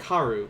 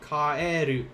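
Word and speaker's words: 帰る: return kaeru and honestly i had a hard time saying this when i was starting japanese because of the e i would always like karu no kaeru kairu to come back to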